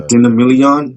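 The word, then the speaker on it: Christina Milian: I always up the Christina Million.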